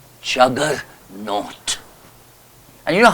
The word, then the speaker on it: Juggernaut: I saw jaganath but they could not pronounce it properly so therefore they wrote ju w g e r n a u t Jugger not and you know how